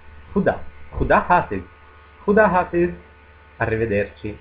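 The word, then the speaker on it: خدا: Khuda. Khuda. Accento sulla A. Khuda.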